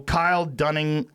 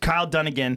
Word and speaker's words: Kyle Dunnigan: it before you play it this is so Kyle Dunning how do you say his name down again Kyle Dunnigan did a face swap with Kim Kardashian and